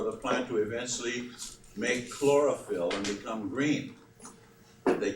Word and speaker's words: chlorophyll: the way it's spelled the CH sounds like a k and the pH sounds like an F very important substance as